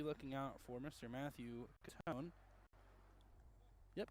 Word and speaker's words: Catone: Matthew Catone. Yep, Catone. Okay, I did get that pronunciation right.